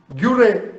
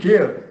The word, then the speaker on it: Guerre: The return of Martin ഗേർ, French ഭാഷയിൽ അതിന്റെ ഉച്ചാരണം ഗേർ എന്നാണ്, സ്പെല്ലിംഗ് GUERRE, ഗ്യൂറെ എന്ന് നമ്മൾ വായിക്കും. Martin ഗേർ, the return of Martin ഗേർ, അതൊരു സംഭവ കഥയാണ്.